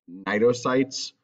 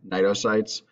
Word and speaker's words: cnidocytes: Cnidaria have a specialized cell that they use to sting and hurt their prey called cnidocytes. The C is silent here, cnidocytes.